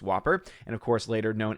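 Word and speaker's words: WOPR: supercomputer known as whopper war operation plan response pronounced whopper and of course later known as joshua programmed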